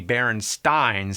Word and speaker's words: Berenstain: Actually, the most likely pronunciation would be BerenSTINE, since it was spelled the same way like Frankenstein.